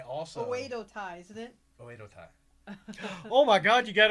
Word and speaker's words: Oedo Tai: Oedo Tai.